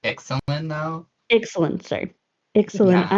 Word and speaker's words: Ixalan: You're going to Alexian too. Yeah. I think it's pronounced Ixalan though.